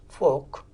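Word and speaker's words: Volk: ok in German language it is spelt as V o NK folk this folk concept is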